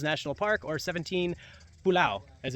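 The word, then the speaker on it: pulau: out 17 Islands now naal park or 17 pulao as it's pronounced yeah so uh yeah got the team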